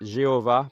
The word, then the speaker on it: Jéhovah: Selon leurs travaux, la prononciation du tétragramme serait Jéhovah plutôt que Yahweh, une interprétation qui a marqué l'histoire de la lecture biblique à travers les siècles.